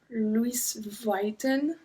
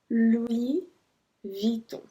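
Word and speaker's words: Louis Vuitton: the crocodile Lacoste we Vito Vito I heard Lewis whiten Louie Vito little widow said veto veto veto jean-paul Gucci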